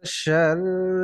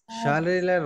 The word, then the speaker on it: شر: শাররিলের র কিন্তু মোটা না, এটা পাতলা উচ্চারণ, কারণ রর নিচে জের আছে।